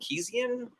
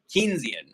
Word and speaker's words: Keynesian: I think it's called Keesian. I never can remember how to pronounce that word. Uh, Keynesian, I think is how you pronounce it. I think it's Keynesian.